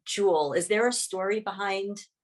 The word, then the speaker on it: Jewel: Nedrick Jewel Carroll, and my other grandfather was Yule, and so the feminine pronunciation of that was Jewel, so it kind of came from both sides.